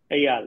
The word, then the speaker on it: Eyal: And your name, let's see, Eyal. Did I say it right? Eyal, yes.